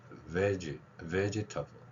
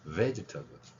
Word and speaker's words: vegetable: 저 단어도 어떻게 하느냐면 vegitable vegitable vegitable 그입니다이 단어 같은 경우는 제가라는 걸 했는데 이건 짧게 소리가 나는 발음입니다 그래서 veg EG 여기가 강하죠가 강합니다 잘 안 되면 이거 연습한 다음에 하세요 vegitable vegitable 이렇게 되는 단어들입니다